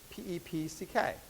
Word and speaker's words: PEPCK: You're welcome to call it PEPCK or PEPCK. Please don't spell it PEPSIK. Because that's what it sounds like, PEPCK.